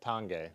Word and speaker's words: Tange: it's neither of these tange is how you pronounce that tange tange yeah so again just because the fork